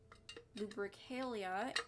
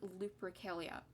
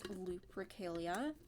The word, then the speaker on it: Lupercalia: like learning about lupercalia i think it's lupercalia i don't know why i pronounce it like i don't know why i pronounce it with a b like that it sounds like there's a bee in it when it comes out of my mouth um but it's lupricalia